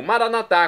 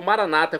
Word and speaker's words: maranatá: E agora eu clamo maranatá, como dizemos nós católicos, ou maranata, como dizem nossos irmãos separados. Não importa pronúncia o significado é o mesmo.